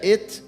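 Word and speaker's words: אֵת: E aí não significa nada, só leia et, né, que pronuncia Aleph, Tav, et, mas sem significado.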